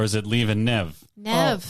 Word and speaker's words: Neve: Nev. Oh, Nev as in Bev, right?